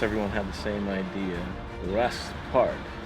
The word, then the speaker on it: Wrest Park: Wrest Park. Rest with a silent W.